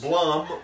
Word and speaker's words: Blum: uh PL Blum yeahum Blum which rhymes with Plum so maybe his great